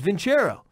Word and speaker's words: Vincero: I was like, the idiots I used to work with were saying it wrong the whole time. Yeah, it's Vincero.